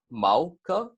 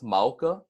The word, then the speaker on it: mauka: the road so for mauka is pronounced mauka so one more time that's mauka and then when you put it together you get mauka and then micaiah is gonna